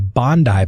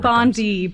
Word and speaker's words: Bondi: about your business and like it's called the Bondi bowls correct did I pronounce it right yes yeah because when I